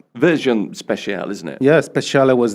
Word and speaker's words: Speciale: But will you get a versione speciale?